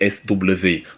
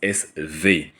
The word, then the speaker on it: BSW: VAG knnes en abrégé SW en allemand ça se prononce SV parce que le W en allemand c'est le V ils se font appeler